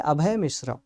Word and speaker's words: अभय मिश्रा: हां जी कृष्णा त्रिपाठी मेरा नाम है अभय मिश्रा। ए बी एच ए वाई एम आई एस एच आर ए आपको स्पेलिंग भी बता दिया।